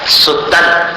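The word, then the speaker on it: सुतं: नान्या सुतन त्वदुपमन, सुतन अंत जैसा उच्चारण, सुतन त्वदुपमंजननी, मंजन जैसा। पहला अनुस्वार अंत जैसा, दूसरा अनुस्वार मंजन जैसा।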